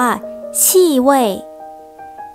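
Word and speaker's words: 气味: ได้ 2 คำ คำ แรก เลย อ่าน ว่า ที่ เว้ย ที่ เว้ย แปล ว่า กลิ่น ค่ะ ส่วน อีก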